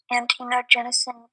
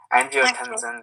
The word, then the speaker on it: angiotensin: Like antinogenesis 2. I said it wrong. Yeah, I still got it. Angiotensin 2.